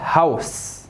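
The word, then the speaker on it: Haus: هاوس هاوس، يبقى فغاو اوتو هاوس. يبقى الا او تنطق او، تنطق او.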